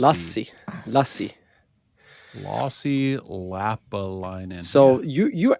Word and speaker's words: Lassi: Lassi. No, he said Lassie. It's It's Lassie.